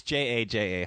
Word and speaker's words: jaja: And for people, so they're spelled with an H. Yeah. Okay. H. It's Jaja. Ha-has.